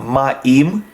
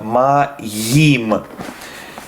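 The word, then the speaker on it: מים: one la cache here you have to be careful to pronounce the youth not ma which is a common mistake but rather ma yim because you'd uh is a consonant and cannot be omitted it does have its own sound um and line three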